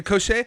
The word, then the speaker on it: Cochet: So your Bandcamp says this was produced by you and Vladimir Cochet. I'm sure I'm not pronouncing that correctly. Okay, Cochet. You did it right.